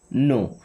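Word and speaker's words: know: Then I नो। दोस्तों आई का मतलब होता है मैं। आई मींस मैं। ओके? ये जो नो वर्ड है ना यहां पे के और डब्ल्यू दोनों साइलेंट होते हैं।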